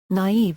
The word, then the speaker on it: naive: “Naive” is now normally pronounced as two syllables, with the stress on the second, in the French manner.